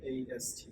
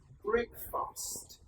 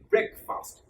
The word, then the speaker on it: breakfast: As you can see on the screen, Breakfast. Most of us do pronounce this breakfast. Actually, that would be brag and not break. Not break, not break. Breakfast.